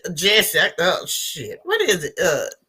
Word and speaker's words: Jussie: I don't think his name is pronounced Juicy. That's the first problem. I don't think it's somebody. I don't know who it was used to call him Juicy. But we know it's Jesse.